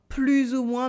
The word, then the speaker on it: plus ou moins: Here you can notice that because I do la liaison in plus ou moins, the S at the end of plus is pronounced z.